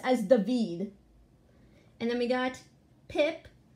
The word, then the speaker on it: David: giving the peace sign his name is not David it's David it's spelled as David but it's pronounced as David and then we got pip AKA The Forgotten